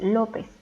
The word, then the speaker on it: López: la siguiente palabra es lópez y es una palabra grave por lo que debemos acentuar en la penúltima sílaba y porque termina en